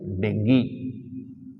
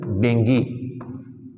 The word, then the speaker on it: dengue: it is allceptable but in English its pronunciation is Dengue right yes pronunciation is Dengue it's not Dengue so your communication skill